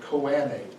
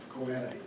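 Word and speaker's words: choanae: nasal cavity from the back is called the koani c-h-o-a-n-a e if you're talking about both of koani and then off of the palatine bones is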